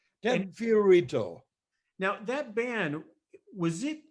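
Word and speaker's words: Fio Rito: career with the ted fiorino band still playing in high school well you got the pronunciation wrong sorry i put a different end on that fiorito now that ban was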